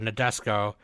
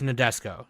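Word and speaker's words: Nadesico: it as they uh they they say it like they don't know how to pronounce it like follows a crew of a battleship named or nadesco as they travel through space while battling alien forces like dude it's nodesco it's it's exactly it's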